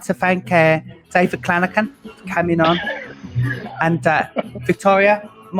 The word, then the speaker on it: Clanachan: It's Scottish, Clanachan, like a hard C.